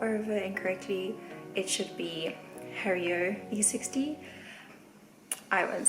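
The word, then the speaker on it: Hario V60: tools that i have and i've used i pronounced the pore over incorrectly it should be hario e60 i wouldn't say what i was saying but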